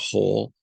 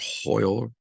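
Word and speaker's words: Hoyle: when you play cards called hole or hoil some people call hoil I'm trying to pronounce it better hoil um but according to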